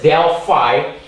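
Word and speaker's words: del phi: and that is simply Del fi this is pronounced as Del fi and it's the partial differ partial differentiating fi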